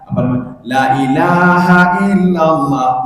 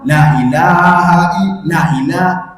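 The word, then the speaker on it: لا إله إلا الله: La ilaha illallah. La ilaha, di mana la ilaha? Yang betul la ilaha illallah, itu yang betul. Tapi kita sudah merubahnya la ilaha la ilaha.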